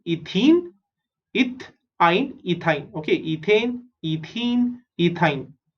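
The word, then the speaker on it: ethyne: ETH is eth and AN is ane. Right? इन तीनों में देखोगे first 3 letters are same, eth, eth, eth, and the last 3 letters are different. यहाँ पे AN is ane, EN is ene, and YN is ine.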